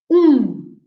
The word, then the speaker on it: um: before pronouncing i'm i'm saying that the number one uh the m is a u and an m right and the m is there not to be pronounced we don't pronounce the m it's just there to make a nasal sound of the u so it's the um